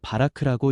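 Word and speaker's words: ברך: 여기서 복이라는 히브리어 단어는 바라크라고 읽습니다.이는 은혜로 채우고 능력을 부어 생명을 자하게 하시는 하나님의 주도적 축복을 뜻합니다.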